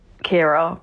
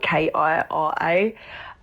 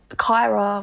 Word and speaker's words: Kira: So, my name's Kira, but it's spelled K I R A. And it's always Kyra. You're ready to be seen. It's not my name. It's Kira.